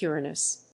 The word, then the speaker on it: Uranus: at least agree to switch the pronunciation back to the Greek Uranus it's clearly so much